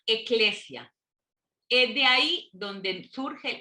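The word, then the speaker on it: ἐκκλησία: se les llama asambleas asambleas en griego se pronuncia eclesia es de ahí donde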